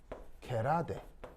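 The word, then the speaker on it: gerade: 그래서 이때 이런 특징을 게라데라고 합니다. 자, 게라데라고 읽는데 묘하게도 영어는 아니고 뭐냐면은 영어는 아니고 독일어입니다. 독일어입니다.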